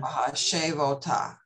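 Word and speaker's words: וַהֲשֵׁבֹתָ: Vahashavota. Right, much better. Vahashavota.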